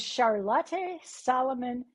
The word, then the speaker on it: Charlotte Salomon: The title of my book is Charlotte Salomon paints her life.